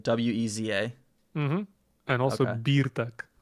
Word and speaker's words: Birtek: Birtek. Like Bartek, but with Birtek. Like beer BIR or BEER. Birtek, a nie Bertek. So BIRTEK. Mm-hmm. BIR. Yeah, if it was EE, it Veza. would be Bertek.